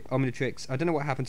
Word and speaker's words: Omnitrix: I'm in The Matrix almond tricks okay I'm actually trying to say it properly Omnitrix I don't know what